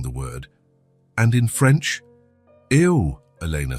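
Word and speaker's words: eau: And in French, eo. Elena said, "It looks strange, doesn't it? It's spelled E A U, but pronounced O."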